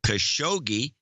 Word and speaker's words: Khashoggi: ways and she'd say Khashoggi is the American pronunciation ah well our dude